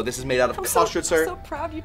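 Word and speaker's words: Köstritzer: So this is made out of Kostritzer. I'm so proud you pronounced that correctly.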